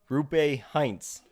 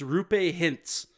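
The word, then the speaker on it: Roope Hintz: Rupe Heinz. You were so close. Really? You're gonna get a half. Dude. You're gonna get a half mark for the first name. It's Rupe Hintz.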